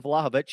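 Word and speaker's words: Vlahović: but Duan vovi Duan I've got to keep saying it correctly now Luan vlahovich has scored six League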